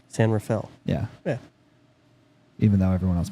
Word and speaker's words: San Rafael: r-a-f-a-e-l like you would think it would be pronounced but no we call it San Rafael San Rafael yeah even though everyone else pronounces it differently Raphael yeah I hate it when people say like